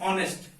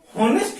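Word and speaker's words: honest: तो सबसे पहला एग्जांपल लेते हैं ऑनेस्ट। अगर आप सिंपल देखते हो तो ऑनेस्ट की जो साउंड होती है वो हॉनेस्ट नहीं होता है, क्योंकि यहां पे एच क्या होता है, साइलेंट होता है, राइट।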